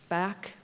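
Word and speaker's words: PHAC: agency and sometimes as FAC, because we pronounce our acronym with an F at the front. The PH is an F.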